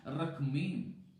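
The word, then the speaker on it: רחמים: तो लिखते समय में RACHAMIM लिखते हैं, या RACHEM भी लिखते हैं, लेकिन बोलेंगे उसका उच्चारण है रखमीम।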